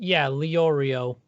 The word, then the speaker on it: Leorio: I think you pronounce it Leorio. Leo. Oh yeah, Leorio.